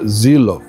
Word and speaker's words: Seelow: não tinha estado aqui, não tinha ouvido do próprio alemão que que se pronuncia Zilov, mas as colinas de Zilov estão aí no canal para você curtir, tá bom?